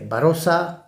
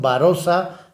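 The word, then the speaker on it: Barossa: lugar en Cádiz pero por esa pronunciación barrosa pues le pusieron barosa Bali que es como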